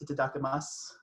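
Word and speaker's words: いただきます: something you say before you eat and it's pronounced itadakimasu so we can all put our hands in together and say itadakimasu the reading today is from henry noen in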